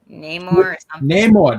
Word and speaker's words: Namor: Namor, that's how you say it.